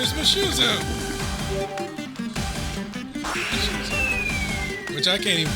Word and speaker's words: Mushu: going to go crazy it's not mush it name is Mushu which I can't even